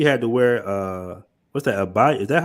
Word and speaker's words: abaya: Abaya? Is that how you pronounce it? Abaya? You know what that is? Abaya.